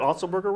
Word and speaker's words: Otzelberger: You said Otzelberger right.